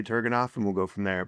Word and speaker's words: Turgenev: I heard someone in here earlier saying the proper pronunciation was one of you guys. Turgenev. Yeah, it was. Yeah. I'm going to say Turgenev, and we'll go from there.